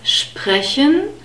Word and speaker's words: sprechen: We have the sh sound and the P, as you can see in the phonetic script. In brackets, SP is always pronounced SP at the beginning of a word. So it's sprechen.